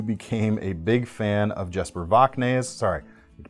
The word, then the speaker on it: Jesper Voxnaes: I'm sure I'm not the only person who became a big fan of Jesper Voxnaes. Sorry, I need to pronounce his name right. Jesper Voxnaes, improving all the time.